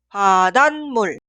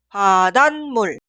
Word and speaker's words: 바닷물: Se pronuncia 바닷물, 바닷물.